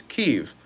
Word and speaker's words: Kyiv: Well, because in 2018 they changed the spelling from Kiev, Kiev, which was the Russian name and pronunciation, to Kyiv, which is more Ukrainian dialect, which is Kiev.